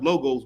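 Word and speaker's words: λόγος: the word the word word word means lo is uh pronounced logos but it is it's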